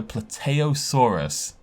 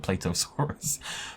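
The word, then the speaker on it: Plateosaurus: regia tyrannosaurus over raptor pluteosaurus which may be plateaus is that the first time i've pronounced that correctly in my entire life i always call it platosaurus fredocephaly spinosaurus which of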